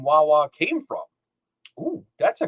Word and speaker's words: Wawa: It's Wawa. Oh, it's actually, it says it's pronounced Wayway. Wayway. We've been saying it wrong. Nobody calls it Wayway. That's our fucking Philly accent.